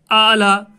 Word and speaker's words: اعلیٰ: سے لکھا جاتا ہے، یعنی ہم الف کی آواز کے لیے ہم نے کھڑا زبر کا استعمال کیا، تو تلفظ یہ ہے، لکھا جاتا ہے اس طرح سے لیکن تلفظ اس طرح سے اعلیٰ، یعنی ہم نے یہاں پر یہ کے اوپر کھڑا زبر، اور یہ کھڑا زبر جو ہے الف کی آواز دیتا ہے۔ بچوں اس الف کو